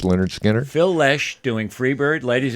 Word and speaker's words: Lynyrd Skynyrd: The whole album, pronounced Lynyrd Skynyrd.